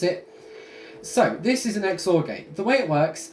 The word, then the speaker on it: XOR: this is called an xor gate some people pronounce it Zor I did for a while but then I learned that it is supposed to be pronounced xor now I can't remember the reason right now